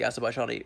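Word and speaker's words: Azərbaycan: So sometimes I try to do the Azerbaijani pronunciation, Azerbaijan, because there's this backwards E, like which you need to smile right before you pronounce it in order to render it correctly.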